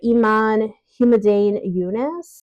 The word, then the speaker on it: Iman Humaydan Younes: I read was b as in Beirut by Iman humdan yunice that's how you say her name translated by